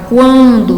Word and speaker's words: quando: Quando se pronuncia a palavra quando, dá para perceber que esse QU não gera dígrafo. O U é pronunciado.